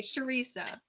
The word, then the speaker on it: Sharisa: Okay, Sharisa. It's like Teresa, but with a sh in the front, right?